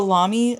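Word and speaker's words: Lamy: Um, and this is the Lami, the Lami Safari. Okay, I just looked at the pronunciation. I nailed it.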